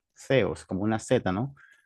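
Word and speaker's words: θεός: Teo, o sea, se pronuncia en español teo, pero en griego se pronunciaos. Zeos, como una set, ¿no? Zeos.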